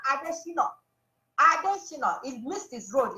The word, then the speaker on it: Adesina: Femi Adesina, I now call him Adesina. You all need to get the pronunciation right. His name is Adesina, not Adesina.